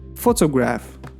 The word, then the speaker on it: photograph: كمثال الكلمة ديال photograph. The stress is the first syllable. Photograph. ماشي photograph ولا photograph. The stress كنديروه في first syllable.